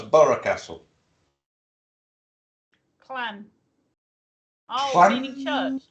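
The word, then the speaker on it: Burgh Castle: Well, we got Borough Castle round here, which is spelt B-U-R-G-H, but it's pronounced Borough. Yeah, you have as well, Micky. I know that. That caught me out. A lot of people say Berg Castle. It's not. It's Borough Castle.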